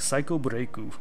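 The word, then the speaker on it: サイコブレイク: It's called Psycho Break instead of The Evil Within, and you pronounce it in Japanese like Psycho Breaku.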